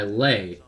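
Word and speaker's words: Leigh: but headed away by lay or lee rather actually his his name is spelled like lay l-e-i-g-h like nay but anyway a cell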